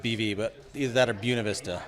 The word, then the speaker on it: Buena Vista: pronounced like Buena yes it is a mispronunciation of the Spanish words for beautiful view in the early days